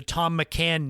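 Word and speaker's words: Thom McAn: How could th Ho M be Tom? It was Thom. So I said, "Why is Thom Macccan? Why isn't it pronounced that way?"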